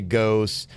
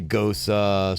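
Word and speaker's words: gose: I've asked a couple different beer people, and one person at one point told me that it could be pronounced pretty much either way. It's spelled G-O-S-E, and some people say ghost. Other people say gosa, so it just, whatever.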